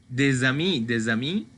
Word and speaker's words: des amis: Mais si j'ai une voyelle, des amis, ici je vais le prononcer comme Z. C'est la liaison ici.